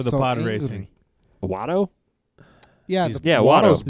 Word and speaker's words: Watto: Watto? Yeah. He's- Yeah, Watto's Watto. Is that his blue. name? Yeah, Watto's blue.